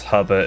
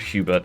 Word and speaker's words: Herbert: no, by the way, his name's Herbert. He's not Hubert."